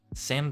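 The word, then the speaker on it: 千: Sen rhymes with 10.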